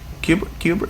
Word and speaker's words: Kubrick: Kubrick. That's how you say it.